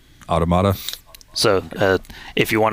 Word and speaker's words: Automata: at one point the game officially calls it automata automata so uh if you want to go by